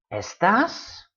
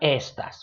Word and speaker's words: estás: Estás, accent mark. So you stress the A, not the E. Estás, not estas, which is a different word.